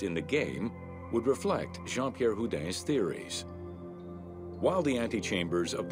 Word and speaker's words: Jean-Pierre Houdin: Jean-Pierre Houdin.